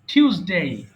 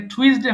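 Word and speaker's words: Tuesday: fuse হয়ে গেছে ফিউজের মত করে ঠিউজ বলবেন টিউসডে এটা টুইসডে হবে না হবে টিউসডে হ্যাঁ টিউস ডে মানে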